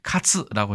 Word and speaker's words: 喝: 치면 이게 가장 많겠죠 우리나라에서 쓰는 것은 일본에서는 카츠라고 해가지고 이것도 갈자와 거의 발음이 비슷한 것을 알 수 있습니다 훈독은 시가루